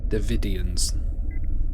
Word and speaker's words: Devidians: have to be ready to fight devidians that's how you pronounce it good okay Captain we